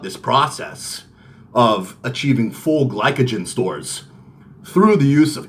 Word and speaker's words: glycogen: They're glycogen. That's how you say it.